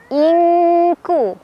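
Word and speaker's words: إِنْ كُلُّ: Ing ada ikhfa ab'ad karena ada nun sukun bertemu huruf kaf. Cara bacanya nun sukunnya dibaca samar sambil tetap ada dengungannya. Jadi kita tetap nahan dulu ya, disamarkan sambil berdengung. Nah, untuk ikhfa aqrab ini, untuk nun sukun ketemu kaf, tingkat kesamarannya itu lebih kecil dibandingkan dengungannya. Jadi lebih besar dengungannya.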